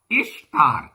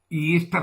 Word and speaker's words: ഇഷ്താർ: ഇഷ്താർ എന്നാണ് ഉച്ചാരണം ദേവിയുടെ, ഈസ്റ്റർ എന്നല്ല.